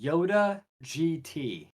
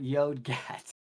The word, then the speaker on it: Yoda GT: And I've just been informed that his name is actually Yoda GT. Yoda GT. Not Yodgat.